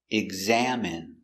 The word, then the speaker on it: examine: exam exam it exam examine examine stress on the second syllable examine examine examine examine